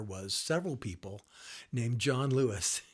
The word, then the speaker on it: Luis: answer is no uh it is pronounced Lewis my dad was born